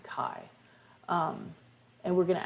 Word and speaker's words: chi: box for chi square which is the greek letter x but we pronounce it chi um and we're going